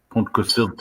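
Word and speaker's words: Pontcysyllte: the letter U is pronounced I.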